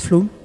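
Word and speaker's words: Flåm: oslo la capitale à flamme se prononcent flou il faut prendre le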